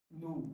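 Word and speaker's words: nous: Nu. Nu. N-O-U-S की ध्वनि है nu, which means we.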